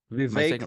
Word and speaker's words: Vivek: Vivek like cake.